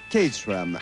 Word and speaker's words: Caterham: Nous sommes sur la colline de Caterham, prononcée Caterham, à quelques kilomètres au sud de Londres.